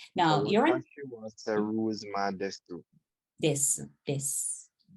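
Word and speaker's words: です: Now so you're in Seruzman desu. This. You don't need the U. It's not we don't usually pronounce it in Japanese.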